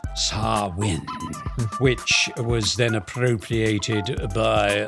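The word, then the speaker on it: Samhain: Scottish galic Pagan festival called Sam hay pronounced sarwin which was then appropriated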